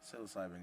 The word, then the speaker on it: psilocybin: I don't know how to pronounce it. Cycle. Psilocybin. Psilocybin.